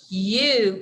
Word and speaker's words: you: It is pronounced you, as in you are in first grade. Now, if I could circle it, I would circle the letter Y because it is actually pronounced yeah, as you would probably expect.